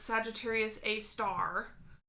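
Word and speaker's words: Sagittarius A*: Pronounced aloud, it's Sagittarius A star, because it's an asterisk symbol.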